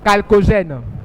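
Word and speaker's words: chalcogène: Calcogène. Ça s'écrit CH, ça se lit calcogène.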